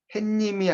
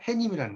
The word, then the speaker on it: 해님: 써야 된다 이렇게 낫죠 그래서 행님도 발음이 햇님이 아니라 해님이라는 거야 그래서 이제 햇님 이렇게